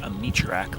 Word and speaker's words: Amaloyak: It's spelled Amaloyak, it's pronounced Amichurak Lake.